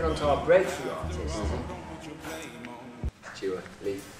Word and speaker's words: Dua Lipa: Dua Lipa. Dua Lipa. Two syllables.